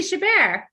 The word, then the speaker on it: Chabert: to try and do it now uh Lacey Chabert oh Lacey Chabert yeah so I would definitely call I won't